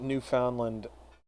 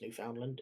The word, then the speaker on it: Newfoundland: I I forget that New Foundland actually exists. Uh technically, it's not pronounced New Foundland.